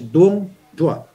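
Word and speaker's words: đuông dừa: Pronunciation yan is Dung Dua.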